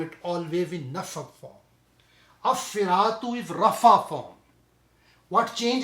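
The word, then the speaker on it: الصِّرَاطُ: It become As-Siratu. As-Siratu. We already talked about the Harf Shamsi, Harf Kamri now. So in this situation, this Lam is not pronounced.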